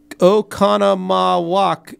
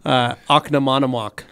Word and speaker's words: Oconomowoc: Don B says, Lake Country is based in Oconomowoc, Wisconsin. Not sure if you were running with the pronunciation. Love you guys. Have a great weekend. Yeah, thanks, Don. Now, I was just saying, Oconomowoc, because that's how it's spelled.